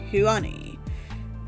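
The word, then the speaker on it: *Hyun-ae: My name is Huani. I don't know if I'm pronouncing that right. Star is of course silent. It just represents that I'm an AI.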